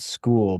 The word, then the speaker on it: Skool: And there is a website called School, but they spell it wrong. It's SKOOL.